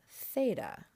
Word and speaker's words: theta: Then we have theta, which looks the same pretty much, both uppercase and lowercase. And as you can hear, I'm going to pronounce it as the TH in thought.